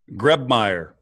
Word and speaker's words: Grebmeier: Grebmeier. Grebmeier. How you spell that?